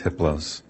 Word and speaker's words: Hypolos: a level four entity his name is hypolos the H is silent the other three are